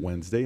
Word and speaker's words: Wednesday: i would say government had a hard time pronouncing wednesday i would say wednesday because of that end that's there it really screws the whole thing up whoever came up with